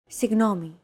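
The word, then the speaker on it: συγγνώμη: romanized like this signomi this character isn't pronounced using an English G sound at all it's like a very soft continuous and loosely held G almost as if you're gargling but don't make it sound too throaty there's no such sound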